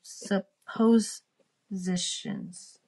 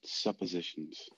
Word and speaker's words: suppositions: with these supposed super supposed positions but he had found all a way we will pronounce it suppositions if you don't mind suppositions okay maybe he had